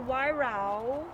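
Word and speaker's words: Weihrauch: This is about the Wairau, I said that right. You guys want to help her? Spell it. No. So this is funny because like Wyra.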